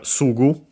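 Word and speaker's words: すぐ: Then we have Sugu. Sugu should be accent on the first more, as I mentioned.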